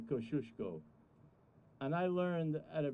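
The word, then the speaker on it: Kościuszko: who he is because you're not saying it right it's koskiasko in greenpoint but we know that it's actually kosciuszko and i learned at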